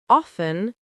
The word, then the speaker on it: often: Silent T versus pronounced T. Listen, list. Castle, cattle. Fasten, fast. Often, soften.